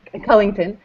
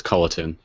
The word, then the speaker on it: Culliton: you why don't you say your last name then what is its Cullington right there's just no G so it's colleton oh really I've been